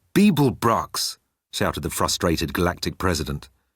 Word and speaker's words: Beeblebrox: You didn't complete your task, Babblepax, said Heimdall, jogging towards him. It's Beeblebrox, shouted the frustrated galactic president.